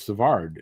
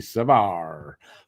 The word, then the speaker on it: Savard: The one I say wrong, I know, is Savard. It's supposed to be Savard, but I've been saying Savard for so long.